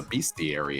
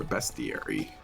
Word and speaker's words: bestiary: guys this what a beastiary is or bestiary what the hell it's called yeah I think I pronounce it Beary I would say beastiary too but there's no a in oh we just took